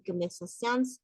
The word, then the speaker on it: conversations: Conversations, sí se pronuncia la S. Conversations. ¿Por qué? Porque está conversación, en conversación, deux conversations, trois conversations. La première conversation, cuando es en singular, termina en una pronunciación nasal. Conversación. El modo de articular también cambia. Decimos conversación. On. Y cuando es que se pronuncia la S, entonces decimos conversations. Conversations.